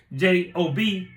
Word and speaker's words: Job: are not your indoctrination you go to your job but job Adobe j o b is in the Bible is a man who